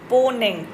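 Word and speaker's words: Mponeng: This is known as द पोग gold mine. पोनेग एम इसमें silent है।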